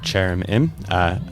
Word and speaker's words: Chaerin: That is the sound of Chaerin. Thank you for the pronunciation help, Guy from WAZO Bean.